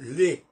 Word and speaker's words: les: Tout à l'heure, je disais que, par exemple, les, L-E-S, on prononce, on dit les et pas, on prononce on prononce pas le S dans les.